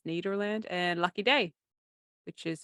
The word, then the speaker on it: Nederland: dusty bottoms Ned Nederland I feel it should be pronounced Netherlands but it's Nederland and lucky day which